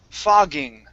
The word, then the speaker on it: fogging: is if you be if you pronounce a k for this word okay it then becomes a very bad curse word in uh in english okay so make sure that when you say the word it's it's a voiced sound pha fog fogging fogging